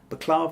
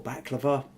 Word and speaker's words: baklava: kind of desserts where we've got baklava or baklava, depending on, I've heard it pronounced both ways, with cream and a